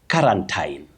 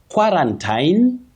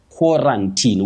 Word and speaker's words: quarantine: Wakiuru, to begin with, we don't say quarantine. Quarantine, common but wrong. Quarantine, common but wrong. You say qua, then you say ran teen. Quarantine, with a stress at the onset.